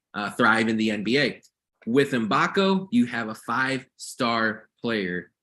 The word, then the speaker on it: Mgbako: It's Mgbako, right? You say it a million times. I've heard a lot of different pronunciations. According to the man himself, it's Mgbako.